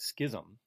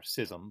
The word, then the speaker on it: schism: time you have um this great schism or sism both are acceptable pronunciations you have the this